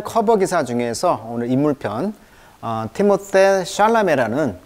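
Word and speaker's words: Timothée Chalamet: 그래서 이 발음을 에로 발음해라. 그래서 티모세 샬라메라고 이제 읽게 되겠죠.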